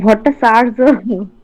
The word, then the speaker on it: ভট্টাচার্য: মিসেস ভট্টাচার্য, ভট্টাচার্য তো নাকি না চার্য বলবো? স্যার ভট্টাচার্য।